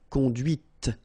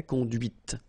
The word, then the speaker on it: conduite: not pronounced, conduit, here, and then the feminine, conduite. Okay, so here you can listen to this t, t, okay, conduite.